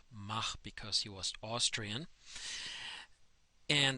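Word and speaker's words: Mach: referred to as the M number and it's pronounced ma because he was Austrian and that means now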